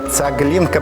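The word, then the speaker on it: цаглінка: By the way, in Belarusian "tsaglinka" should be pronounced with "G", there is "ge" and "G". Here is "ganak", "gonta", "tsegla" - it is said through "G", "tsagelnya" - where they are made.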